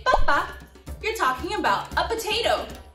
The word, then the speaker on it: papa: It looks like papá, except that it doesn't have an accent. It's called papa.